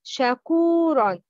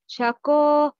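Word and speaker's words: شكور: The right pronouncing is shakuron, kuron, complete dhamma. The wrong pronouncing is shakuron, not ko.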